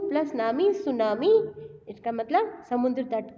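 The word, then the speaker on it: tsunami: और सुनामी को प्रोनाउंस कैसे करते हैं स्टूडेंट्स, सु प्लस नामी, प्रोनाउंस सु प्लस नामी।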